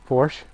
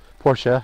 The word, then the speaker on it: Porsche: there's a nice looking Porsche here Porsche however you want to pronounce them I think Porsche is a correct name a lot of people just say Porsche now that's what I